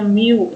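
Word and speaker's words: μ: Ini bukan U, ini adalah mu, membacanya mu.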